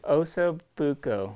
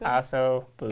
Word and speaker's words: ossobuco: I can never pronounce it right. Let's have you do it. Osobuco. Ossobuco? Osobuco.